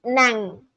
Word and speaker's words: ng: NG is pronounced as Nang.